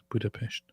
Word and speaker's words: Budapest: That's how you say it, David. Budapest. Just so you know. Don't say it wrong.